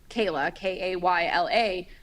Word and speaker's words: Michaela: JoJo specifically calls Kayla, Kayla, but she's named after her dad. Her name is spelled Michaela, like Michael.